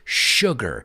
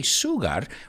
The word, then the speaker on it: sugar: interesting word because well it doesn't have an sh in it but we pronounce it as if there were an sh in it so we don't say sugar we say sugar sugar